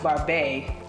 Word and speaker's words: Barbet: The Barbet, pronounced Barbet, with the T being silent, hails all the way from France.